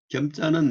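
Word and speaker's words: 謙: 겸자는 우리가 이제 겸손할 겸하는데 여기서는 이제 그 뭔가 좀 특수한 의미로 엄도 옛날 사람 겹이라고 읽었어요. 겹, 만족할 겹, 쾌족할 겹.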